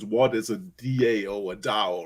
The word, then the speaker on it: DAO: speaking about it what is a d.a.o a dao right um explain it to us in layman